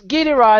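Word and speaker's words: Gilles de Rais: It's French. I know, my French is terrible. All right, so it's Guy Dura is how I say it. It's Gilles de Race is how it's spelled.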